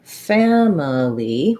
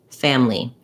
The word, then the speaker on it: family: i can say it so i can say family with three syllables and you'll also hear people saying this with just two syllables family that's because that reduced or a syllable in family is so short that sometimes it's almost dropped there are words like